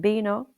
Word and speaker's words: vino: Examples are baso meaning glass, bentana meaning window, and bino meaning wine. So, baso, bentana, vino, and that's the letter ube which is often pronounced as a b in Spanish.